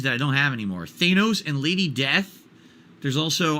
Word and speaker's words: Thanos: in fact that I thought his name was Thanos apparently it's pronounced Thanos and now we all know that but we